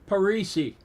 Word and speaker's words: Parisi: The Pete Paris Award? Nope. Parisi.